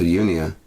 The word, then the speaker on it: Unea: Unia it is, pronounced unique.